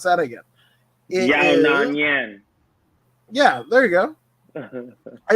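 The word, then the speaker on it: Yan Xiaonan: Let me pronounce that again. Yona Nyan.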